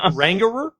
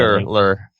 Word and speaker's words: Angular: It's not Rangerer?